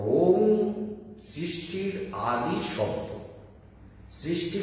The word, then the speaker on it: ओम: সেই জন্য জানতে হবে ये ओंकार, ओंकार ओंकार शब्द बनता है अ उ म, ये तीन अक्षर और उसके साथ अनुनासिक शब्द बिंदी लगता है। तो इसलिए ओम ओम इसका उच्चारण ऐसे होता है।